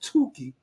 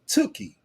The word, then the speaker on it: Tookie: people in the South talking about Tukey. I'm glad they all got it right after they start seeing brothers from LA come on and pronounce it Tookie, right?